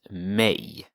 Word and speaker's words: mig: It's pronounced mig, but it's spelled M-I-G.